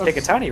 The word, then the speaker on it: Picatinny: Thompson with Picatinny rails. Picatinny? Yeah, it's just... Yeah. How's it pronounced?